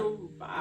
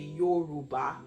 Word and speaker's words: Yoruba: It's not, Yoruba. you can't, you can't fluff it. It has to be Yoruba.